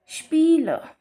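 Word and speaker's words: Spiel: फिर आई ई रूल यहां पर हमारे किसी भी वर्ड में अगर ई आई या फिर आई ई आता है तो हम उस लेटर को प्रोनाउंस करेंगे जो बाद में आता है जो बाद में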